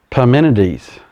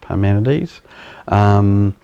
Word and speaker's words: Parmenides: But Parmenides, I think that's how it's pronounced, Parmenides.